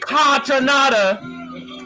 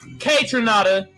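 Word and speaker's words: Kaytranada: saying anderson pack and contra nada is actually pronounced k tranada but he white so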